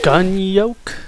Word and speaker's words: Gunyolk: end of the line the gun yoke spelled like whatever Factory Chief yeah it's spelled like the the Yol of an egg I don't understand that